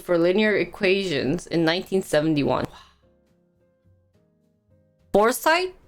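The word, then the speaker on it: Forsythe: foresight that's how you pronounce it for scythe in the beginning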